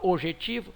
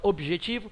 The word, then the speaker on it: objetivo: com a consoante J sim o b é pronunciado OB objetivo é você não fala ojetivo você fala objetivo o b é pronunciado a a consoante B é pronunciada e o J é pronunciado sim você não fala obetivo você fala objetivo é pronunciado o j portanto essas duas consoantes